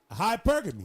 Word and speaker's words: hypergamy: Hypergamy. Hypergamy. Well, that ain't right there. Oh, I pronounced it right?